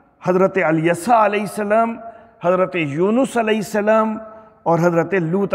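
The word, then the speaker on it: یونُس: یونس بول دیتے ہیں، یونس نہیں ہوتا ہے، یونس، نون کے اوپر زبر نہیں ہے، نون پر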